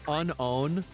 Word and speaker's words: Unown: Actually, it's pronounced unown.